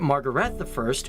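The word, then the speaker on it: Margrete: we should probably mention Margaret I, or as the Danish pronounce it, Margaret I, who was the first female monarch for the country.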